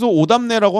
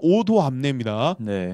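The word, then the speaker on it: Odoamne: 오도 그니까 담네 그 저희는 계속 담라 하는데 어 실제 발음은 오도암네 오도 암내가 이제 영어로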